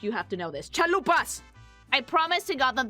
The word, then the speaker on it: chalupa: tell you never had chalupas. I would die, but I've actually never had a chance to try a chalupa. Chalupa. Chaupa. Chaupa. Chaupa. That's the American pronunciation.